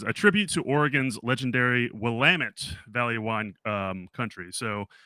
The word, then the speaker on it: Willamette: always call it like Willamette and she's like no it's like damn it but yeah you got to pronounce it Willamette so I'm like okay